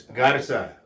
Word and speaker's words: Garza: Is Garza pronounced Garza or is it Yeehaw? It's Garza. Garza.